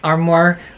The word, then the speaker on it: armoire: Great magic and armoire rhymes with grimoire.